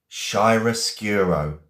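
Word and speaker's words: chiaroscuro: Shyroscuro. Okay. And it's a noun. I'm going to spell it slowly. C H I A R O S C U R O. Shyracuro.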